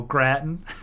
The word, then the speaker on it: gratin: I'm just not like Groton gratin okay gratin oh Gratton short a Groton okay that's what a short a is I want to sleep